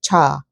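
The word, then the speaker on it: 차: I don't even think it's actually pronounced chai. It's just the way that we kind of stylize it in the English language. But in Korea, we say cha.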